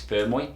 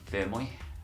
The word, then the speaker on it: Fermoy: It's, well, how do you pronounce the name? Fermoy. I'm not Irish, but I think it's Fermoy.